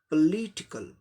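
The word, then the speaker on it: political: पॉलिटिकल, पॉलिटिकल, पॉलिटिकल। हम लोग पॉलिटिकल बोलते हैं, लेकिन प उच्चारण होता है, दूसरे पर ली पर जोड़ देना है।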